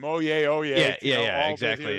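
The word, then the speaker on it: Oyez: in a little link to this website called oh yeah it's pronounced or spelled o-y-e-z but it's actually one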